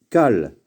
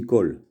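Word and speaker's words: כל: Et toujours, pratiquement à 99%, lorsque vous voyez ce mot-là, ça se dit Kol. Kol, c'est tout. Kol, kamatz, kaf, et klamed, ça devrait dire kal, mais il se prononce kol.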